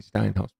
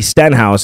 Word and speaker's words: Stenhouse: close to that happening Ricky steinhaus but you're right Ricky Stenhouse if you want to say it correctly but fine all right